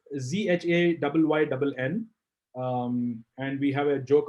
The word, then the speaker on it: Zhayynn: nothing. It's one word. Zhayynn Photography. Yeah. Don't pronounce his name as. It's ZHAYYNN.